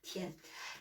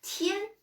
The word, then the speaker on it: 天: Donc, ce caractère-là, c'est tien, le ciel. Tien, voilà. Tien, voilà. Tien. Tien, je vais vous poser une question.